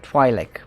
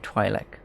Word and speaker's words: Twi'lek: I've always said Twi'lek. Because it's an open syllable and there's an apostrophe over there. I treat it as a standard open syllable, that's why.